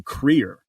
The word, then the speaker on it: Kruger: here's the interesting thing the way that you would pronounce uh Krueger's name and afrikans is actually queer uh Paul Creer so that that took